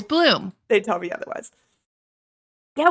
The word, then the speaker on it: Blum: It better be Bloomhouse if his last name is Bloom.